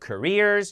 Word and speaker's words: careers: 얘기한다 we talk about careers 자 강세가 뒤에 있으니까 앞에가 커가 아니라 크죠 careers careers gos movies we watch